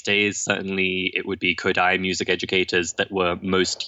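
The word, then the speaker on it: Kodály: And if people aren't familiar with Kodai and would like to learn more, then it's spelled quite unusually. It's Kodaly.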